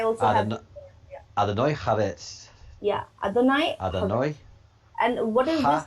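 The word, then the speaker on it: אדוני: Name of God, Adoni Haaretz. Adoni Haaretz. So please help me in the pronunciations. I also have... Adonai Haaretz. Yeah, Adonai.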